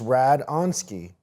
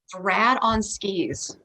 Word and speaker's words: Radonski: No, it's Radonski. Rad on skis.